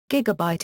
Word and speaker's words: gigabyte: For example, gigabyte is/ gigadbait slash with stress on the first syllable.